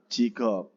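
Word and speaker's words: 직업: Tulisannya kan Jikob, tapi bacanya adalah Jikob, pekerjaan ya, Jikob.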